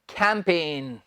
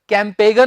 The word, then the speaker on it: campaign: इसका उच्चारण है स्टूडेंट्स कैंपेन। कैंपेगन नहीं, कैंपेन। जी हम इसमें नहीं बोलेंगे।